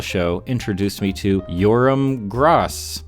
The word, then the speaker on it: Gross: And this innocuous little koala show introduced me to Yoram Gross. I've heard it pronounced both Gross and gross, but I'm gonna go with Gross.